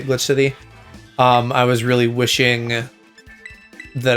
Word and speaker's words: Glitch X City: I assume you don't pronounce the X in Glitch X City and just say Glitch City.